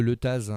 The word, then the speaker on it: Letaz: Si je vous dis le letaz, c'est quoi le letaz? Alors, le Leta, par chez nous, on ne prononce pas le Z, mais c'est vrai que ça s'écrit avec un Z.